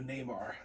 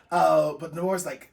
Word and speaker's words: Namor: Hasbro just came out with a new Namor that I... Namor. I've been pronouncing this name wrong for years.